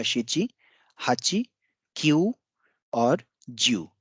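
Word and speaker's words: きゅう: क्यू के बाद एक और ऊ की ध्वनि है यानी कि क्यू।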